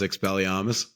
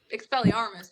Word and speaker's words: Expelliarmus: You didn't even say it right. Expelliarmus, but Armus? Yes. No, it's Armus. It's Expelliarmus. Well, are you trying to do half a British accent? It's Expelliarmus, but... There's an R in there, Jones.